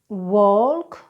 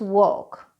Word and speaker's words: walk: Okay let's talk about the silent L ...notice I said there let's talk about the silent L I didn't say TALK. This is one of the most mispronounced L sounds in the English language (for ESL learners anyway) so let's go through those words talk walk chalk it's not talk it's talk it's not walk it's walk it's not chalk it's chalk.